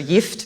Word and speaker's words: gift: um called gift which if you were to pronounce this word gift in Swedish which by the way is the language that I grew up speaking at home with my mother and still speak with her so yft means poison um as